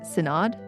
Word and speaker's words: synod: I think that's how you say it. Senade. S Y N O D. Senade. I would say the cadaavver senade.